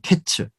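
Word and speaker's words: קץ: 그러니까 여름 과일은 카이츠 끝이 됐다는 것은 캐츠. 예. 그래서 모음 하나를 빼고 그 자음이 다 같아요.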